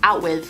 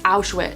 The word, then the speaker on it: Auschwitz: At one point he says out with, and she's like, oh, for God's sake, Bruno, that's not how you say it, you keep pronouncing it wrong, it's Auschwitz.